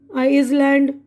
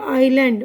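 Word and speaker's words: island: है ना तो यहां पर देखिए स्तमा है आइसलैंड डट रियन रपर वेडनेसडे यह सारे अल्फाज में मैंने साइलेंट कुछ भी नहीं किया ठीक है तो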